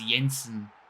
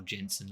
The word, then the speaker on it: Jensen: on here and it's Yensen I believe that's T pronounced it's either Yensen or Jensen I'm going to say Yensen and he gets him off